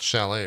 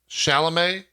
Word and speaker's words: Chalamet: It's not Chalet, right? Chalamet?